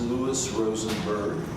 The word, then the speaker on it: Lou Rosenberg: for circuit court judge well my name is pronounced Lewis Rosenberg and the reason why I'm running for circuit